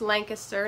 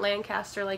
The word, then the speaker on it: Lancaster: is located in Lancaster County Pennsylvania it is pronounced Lancaster not Lancaster it is in the rest of the United